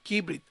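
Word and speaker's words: כברית: Entonces fíjense, el acento va en la I al final, porque se acuerdan que las palabras hebreas, si no tienen acento marcado en la escritura, siempre van en la última sílaba de la palabra hebrea.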